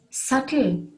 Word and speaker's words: subtle: that with the siren b in it is subtle s-u-b-t-l-e subtle which means delicate or precise and